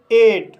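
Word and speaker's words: eight: इसका दूसरा रूल है, जब किसी वर्ड में EIGH आए तब GH साइलेंट रहता है और EI का उच्चारण A होता है। जैसे एट, एट शब्द में EIGH आया है, इसलिए GH साइलेंट रहेगा और EI का उच्चारण A होगा, इसलिए इसे एट पढ़ा जाता है।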